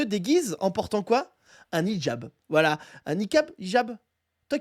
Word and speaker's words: hijab: Un hijab. Voilà. Un niqab, hijab. Toi qui es arabe, Reski, comment on dit? C'est deux choses différentes. C'est hijab, donc, faut H-I-J-A-B.